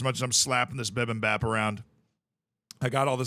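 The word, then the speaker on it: bibimbap: gracious me oh wait it's not Bibb it's Bib and Bap I keep missing a syllable it's bi oh that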